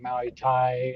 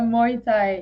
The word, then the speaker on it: Muay Thai: i saw that you're maui thai how do you say that instructor what tell us about that a muay thai yeah thai boxing so